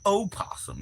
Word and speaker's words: opossum: Or opossum, if you must. The O is silent unless it's the son of something. Like O'Banion?